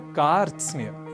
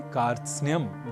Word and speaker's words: कार्त्स्न्य: इसलिए इस शब्द का उच्चारण हम सर्वथा शुद्ध करें, इसका हमें विशेष प्रयास करना है और इसे कारत सनय, कारत स्नेय आदि न कहकर हमें कहना है कार्त्स्न्य।